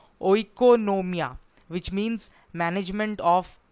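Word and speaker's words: οἰκονομία: से आया है और उसका ग्रीक प्रोनाउंस कुछ ऐसा है ओ इकोनोमिया व्हिच मींस मैनेजमेंट ऑफ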